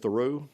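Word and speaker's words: Thoreau: It's got both the both syllables are equally emphasized.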